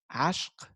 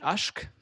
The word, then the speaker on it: ishq: Another one is the word ishq. And ishq, or as you pronounce it in Persian, ashq, ashq, or in Turkish, ashk.